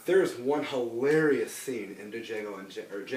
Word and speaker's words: Django: There's one hilarious scene in Django Unchained, sorry, The D is Silent, where a bunch of